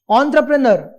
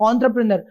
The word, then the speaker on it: entrepreneur: Entrepreneur. Yes, if you look at the word, you may feel that it should be pronounced as entrepreneur, but originally it is pronounced as entrepreneur.